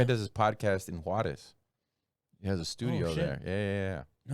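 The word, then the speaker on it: Juárez: I believe it's pronounced Juarez. So get it right.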